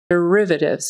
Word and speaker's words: derivatives: say derivatives derivatives derivatives most of the time you're probably just going to hear D D D D it's going to kind of get thrown away because it's not an accented syllable derivatives the accent is on the second syllable so derivatives derivatives Z on the end Forum Forum Accent on